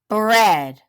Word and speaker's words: bread: and write it down here's that EA that makes a short e bread good job try another